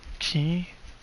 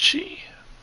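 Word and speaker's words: qi: Casting exhaustion execution skill restores an additional 10 key. I think it's actually pronounced chi.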